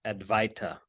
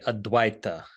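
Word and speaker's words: अद्वैत: the basis of the Sanskrit term aduita commonly mispronounced advaita but it's actually a Dwight and that uh at the beginning is a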